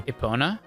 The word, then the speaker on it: Epona: Ocarina of Time hundred of time Thank You Epona yeah I've heard someone say apana and that